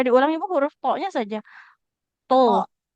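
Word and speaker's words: ط: To. Kok, kok, Bukan kok. oh, To. kok, Mm, kok, mm. Nah, huruf to ini huruf yang diucapkan dengan menaikkan pangkal lidah ya. Jadi tebal hurufnya.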